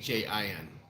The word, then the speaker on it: Samhain: It's Samhain. A lot of people pronounce it like salmon.